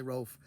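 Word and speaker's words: Rowlf: So Ralph the Dog is who I named my dog after, even though I pronounced it Ralph. It was better for me to say Ralph rather than Rolf, but I know the Muppets say Rolf.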